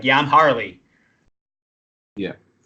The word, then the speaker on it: Harley: Tom cool whatever cool Harley that's how I'm going to say my name over here or they go or they go I go hey I'm happy and they go like Halle Berry so every time I